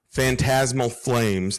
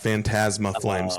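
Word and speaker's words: Phantasmal Flames: Fantasmal flames. Not Fantasma Flames.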